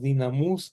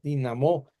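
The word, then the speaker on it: δύναμις: la palabra griega, que a veces decimos dinamus, como se escribe, pero no se pronuncia así, se pronuncia dinamo.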